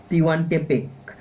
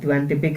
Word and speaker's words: Tehuantepec: रहे हैं gulf of, इसको बोलते हैं, स्पेलिंग इसका थोड़ा टिवांटेपेक, TEHUANTEPEC, टिवांटेपेक है गल्फ ऑफ।